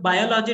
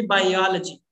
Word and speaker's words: biology: People say I am a student of biology, it should be biology. So this is, you know, if you say biology, this would be the correct pronunciation.